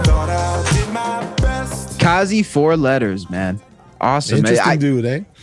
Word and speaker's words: Kaze4letters: And I'm glad we got the name out of the way, because I was pronouncing it the way it was spelt, not emphasizing the E.